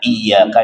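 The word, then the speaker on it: إياك: Iyaka na'budu wa iyaka nastain itu pakai pakai tasydid. Jadi cara bacanya itu bisyaddah dengan penekanan iyaka na'budu wa iyaka nastain.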